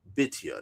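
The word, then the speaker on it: Bithiah: In point of comparison, the Hebrew name Bethia is properly pronounced Bitia.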